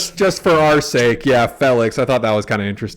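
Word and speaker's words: Félix: It's Felix. Like, Felix. You fell over, Felix, not Felix.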